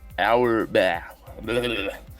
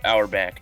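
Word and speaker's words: Auerbach: Brown and Coach red our bat our back they're saying it right yeah our back draws draw Lots out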